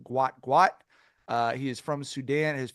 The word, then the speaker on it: Gout: People have been calling him Gout. I believe his name is actually pronounced Gwat.